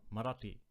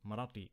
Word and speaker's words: Marathi: And that deity was worshipped by the local people who spoke the Marathi language, or Marathi. How do you pronounce it? Marathi with the t sound.